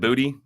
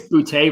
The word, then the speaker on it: Boutte: I think I'm saying it right. Is it Booty? I know. I think it's Boutte, but Booty's way more fun to say.